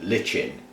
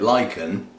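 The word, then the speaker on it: lichen: Moss has got now I have to say ling I know it's Latin and I know that's not how you're supposed to say it but if I call it lyen then I've got to keep my mounts away from the full moon and I can't be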